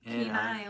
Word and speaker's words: Kenai: Kenai, like Kenai. You know, like No, you have I- a keen eye.